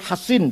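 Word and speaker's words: حصين: sahabat namanya alhin alkazraji bisod ya Hasin C kalau Sin Husin bacanya kalau shod Hasin bacanya alhin alkazraji punya anak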